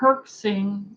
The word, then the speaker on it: herxing: perksing and do you recommend doing it and that's spelled h e r x i n g h as in Henry herxing and I think